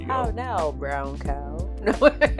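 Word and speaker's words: CAO: pronounce it right, cuz we probably pronounce this brand like three different ways. But, uh, Cow. Okay. Um, C A O. Cow. Ciao. Maybe. Okay. Cow. Chowo. Mau. I think we did a lesson on the pronunciation and those. Yeah. So, cuz the guy the guy at the cigar um joint said another name.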